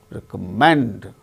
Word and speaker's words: recommend: on second syllable success recommend third syllable gain stress in the case of